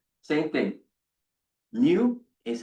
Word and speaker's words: mu: Mu is how you pronounce this, right?